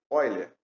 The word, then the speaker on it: Euler: Se escreve Euler, mas se lê Euler.